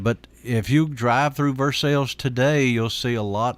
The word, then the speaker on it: Versailles: France the versaille but we call it Versailles and that's our pronunciation of it it was settled by